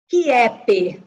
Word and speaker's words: Kiep: Como é que pronuncia Daniela Kais Shep? Kiep. Kiep.